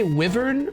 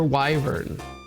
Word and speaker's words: wyvern: And getting max XP would be ideal, but Do you guys say Wyvern or Wyvern? Because funny enough that is a regional pronunciation thing. I believe received pronunciation pronounces it wyvern and nasty American uh English pronounces it wyvern.